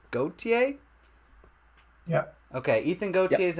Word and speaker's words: Gautier: another one is Ethan Gautier gothier I'm not sure I know there's different pronunciations of the last name so correct me if I'm wrong uh I believe it's goatee yeah okay Ethan Gautier